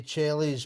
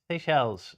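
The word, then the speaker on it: Seychelles: I say I say Chel's paradise fly catcher. Please forgive me if I've totally butchered that. Seell. Oh, Seells.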